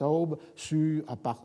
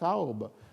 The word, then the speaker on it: Aub: On trouve les témoignages recueillis par Max Aub avec des contemporains de Campalans.